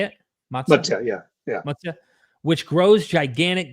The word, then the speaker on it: Matsya: Matsya, yeah.